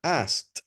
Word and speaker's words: asked: a usar la palabra asked, porque era una pregunta. She asked him, he asked me, I asked him, they asked me. La palabra se pronuncia ask, con K y luego T, ask.